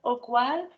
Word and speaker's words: Ogwal: And now someone I don't know, if you could introduce yourself, Ogwal. And please correct me if I'm mispronouncing your name.